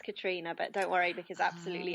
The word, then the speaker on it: Katriona: human race till next time we have today Catriona Chapman I've said that right ever now that's how it's spelled it's pronounced Katrina but don't worry because absolutely even simple names